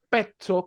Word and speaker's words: pezzo: Pezzo, pazzo, pizza y todas las palabras que van con doble Z, en este caso, va igual. Se pronuncia como que si la primera Z fuera una T y la segunda fuera una S.